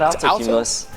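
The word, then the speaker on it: altocumulus: No, not Alto Cumulus. Yes, you're correct. You're pronouncing it correctly.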